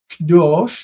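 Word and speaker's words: קדוש: Kdosh, notice the syllable in the beginning. It's normally Kadosh. Kadosh is reduced to Kdosh when it is in construct.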